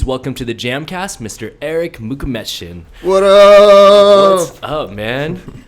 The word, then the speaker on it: Erik Mukhametshin: It's Erik Mukhametshin.